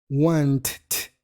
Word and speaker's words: wanted: Tendríamos entonces needed y wanted. Needed, wanted. ¿Ves cómo ahí sí suena un poquito la ed y no es ed sino una I corta con la D o la T?